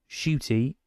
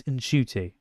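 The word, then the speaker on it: Ncuti: this entire time so it's not shooty it's in shoy I think that was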